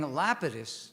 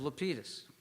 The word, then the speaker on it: Lapidus: helped organize the event he mispronounced my name saying Lapidus instead of lpus I was sorely tempted